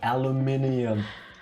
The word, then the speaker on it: aluminium: but at all yes in american english everyone else in the world spells it the way it's actually called aluminium that's for metric pronunciation